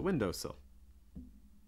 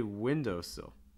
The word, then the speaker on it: windowsill: this is the the windowsill when you say windowsill you want to stress window not sill so it's not window sill it's windowsill this is a compound